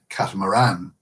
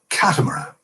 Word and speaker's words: catamaran: So, for instance, I say the word catamaran, excuse me, with emphasis on the final syllable. You guys, Americans, say catamaran with emphasis on the first syllable.